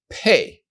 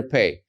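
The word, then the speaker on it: פ: be a different sound when you have the dot in the letter P you're going to pronounce it as PA like Peter when you don't have the dot in the letter p you're going to pronounce it as a softer sound fa so with the dot it's PA like Peter without the dot it's like Philip fa both are the letter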